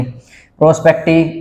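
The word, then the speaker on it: perspective: अगर आप स्पीकिंग में यूज कर रहे हो तो your pronunciation must be clear, तो PER होगा, RE नहीं होगा, ठीक है।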